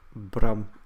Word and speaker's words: Bram: is your real name my real name is Brad and it's pronounced Brahm in Dutch I wish I had